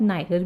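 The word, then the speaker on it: neither: अब ये जो वर्ड है नीदर, इसको आप नाइदर भी बोल सकते हो, नीदर भी बोल सकते हो, इट्स all about American and British pronunciation, but both दी pronunciations are correct.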